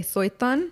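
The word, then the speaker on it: Suytun: went to cot suan how do you say it Britney you say it and I feel like I can't say it correctly I've been calling it cot soyon soyon it's spelled s u y t u n and this is the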